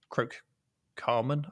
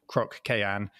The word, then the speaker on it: Croc Cayenne: two times last week i called him croak carmen i think i said so i do apologize for getting your name wrong uh it is of course croc cayenne so we'll make sure